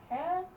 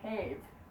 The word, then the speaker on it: ha: Ha en god dag. We don't say have, even though that's really right. Just say ha.